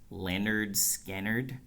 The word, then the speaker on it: Lynyrd Skynyrd: Lynyrd Skynyrd, pronounced Leonard Skynyrd, whatever.